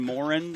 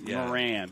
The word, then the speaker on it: Moran: it like they do it's it's Moran I talked to him this morning I keep saying Moren I'm trying to sound it out but Moran that's the midwestern it's Mor he's a